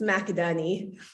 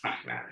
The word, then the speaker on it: McInerney: changed it because you're married, so hopefully that's pronounced correctly. I did, yes, it's McInerney. McInerney, so there we go.